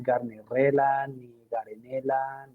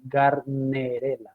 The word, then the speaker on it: Gardnerella: la pronunciación del organismo no es carne la canela eso sí se dice gardnerella garde de dar arena